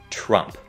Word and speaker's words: Trump: Nó không phải chờ mà là tra. Thử đọc như thế này nhé. Tra, tra, tra, tra. Và các bạn cũng hãy nhớ kết thúc họ của ông ta với một âm p nhẹ.